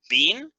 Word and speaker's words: been: being and being okay being in the past participle like this bin is just one syllable yeah bean just like